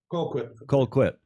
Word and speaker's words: Colquitt: How do you pronounce it, Colquitt, like it's spelled.